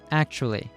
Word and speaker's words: actually: In actually, the T is pronounced as a ch. Actually, actually, not actually.